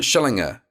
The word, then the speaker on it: Schillinger: last name is it is it shillinger is that how I say yeah you you got it perfect most people uh don't get the hard G the G perfect so are you moving